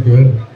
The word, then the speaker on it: Goode: Is that the correct pronunciation? I'm Good.